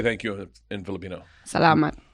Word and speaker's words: salamat: Salamat. Salama with a T. Salamat. Salam alaikum.